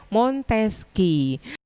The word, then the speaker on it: Montesquieu: Tulisannya Montesquieu, tapi dibacanya Montesquieu.